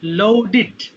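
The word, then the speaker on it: loaded: আর হচ্ছে যে লোডের ভার্ব 2 এটা হবে টা লোডেড হয়ে যাবে, লোডেড। লাস্টে ডিডি থাকলে ডিড উচ্চারণ করতে হয়, লোডেড।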